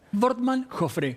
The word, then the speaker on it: Wortmann Joffre: Wortmann Joffre, como si fuera B corta.